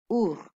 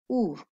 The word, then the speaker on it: ours: And if you listen carefully, there is a silent letter in this word. Can you guess what it is? Our. Yes, you're right. The silent letter is S. Let me read one more for you. D. D. Which is a silent letter here? Yes, you're right. The letter S is silent.